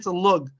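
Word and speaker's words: לוג: But a log is actually a Hebrew word. It's a lug. That's the more proper way to pronounce the word lug.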